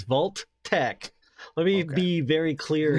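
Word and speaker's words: Vault-Tec: No, it says Vault Tech. Let me be very clear here. The pronunciation is Vault Tech.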